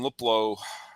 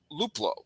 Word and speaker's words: Luplow: they already had um and uh uh jordan liplow was that how you pronounce his name i was that's one of those names that i just see uh luplow right i'm not saying that wrong no yeah